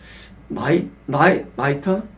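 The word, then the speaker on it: mitre: 발음이 마이터 어떻게 말합니까?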